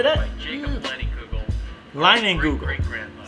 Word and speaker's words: Leinenkugel: Leinenkugel. Great-grandmother. Say that 1,000 times. Leinenkugel. Leinenkugel. It's Kugel. Leinenkugel.